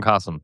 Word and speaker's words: Qasim: It's like awesome Qasim.